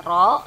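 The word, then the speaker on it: ρ: dengan rumus ini nih Roho ini bacanya ro ya bukan p tapi Roho R ama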